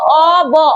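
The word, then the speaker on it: of: আর আমরা যেটা ও এফ অফ বলি সেটার আসল উচ্চারণ হয় ও অব, অব। এটার আসল উচ্চারণ হওয়া উচিত অব, কিন্তু আমরা অব না বলে এটাকেও অফ বলি, এটাকেও অফ বলি।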